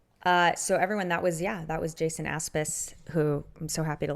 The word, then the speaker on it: Aspes: I was just realizing the perfect mental note for how to say it properly is as if you're saying Aspen. Oh my God, just where you're from. Swap the N for an S.